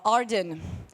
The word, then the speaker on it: Ardan: Uh Ardan, your name rhymes with garden.